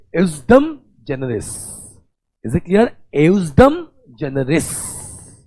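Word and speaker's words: ejusdem generis: Next rule is a wonderful rule class, ये भी primary rule है, इसका नाम है, ठीक है, जे थोड़ा साइलेंटली हम पढ़ते इसलिए, ठीक है, एउसडम जनरस।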